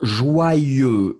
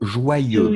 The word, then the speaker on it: joyeux: Oui, faites attention, joyeux, joyeux. Joyeux. Oui, wa, wa, wa, yeux, wa, yeux, joyeux. Joyeux.